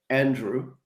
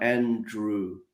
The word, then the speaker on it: Andrew: Si digo mi nombre, digo Andrew. A lo mejor lo que hago es pronunciarlo un poquito más lento, un poquito más claro, pero muchas veces lo que yo veo es la última sílaba al final cuesta. A veces para los hispanohablantes, quizá por la W, este sonido al final, Andrew.